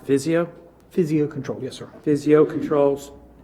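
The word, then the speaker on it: Physio-Control: I move that the Board of County Commissioners authorize the Director of Department of Emergency Services to purchase 30, is it pronounced Physio? Physio Control, yes, sir.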